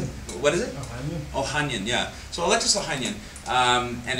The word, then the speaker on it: Ohanian: Ohanian, yeah.